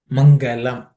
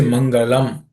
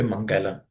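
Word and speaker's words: मङ्गलम्: See this word Mangalam in Sanskrit, the last letter L is a soft L. Mangalam. Generally, we have a tendency, especially people from the south, to say Mangalam, L.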